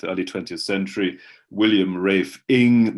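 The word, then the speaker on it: Inge: 20th century william rafe ing my name rhymes with sting was a pupil of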